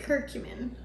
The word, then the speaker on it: curcumin: Curcumin.